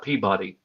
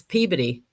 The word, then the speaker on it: Peabody: you know too the the town's name is p a B- o d y there's Molly hey Molly p a b o d y Peabody no it's peid when you're yeah I'm telling you when you live down in Mass everybody says peid and it's just a